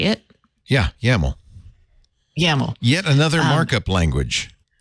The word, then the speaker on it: YAML: Yeah, YAML.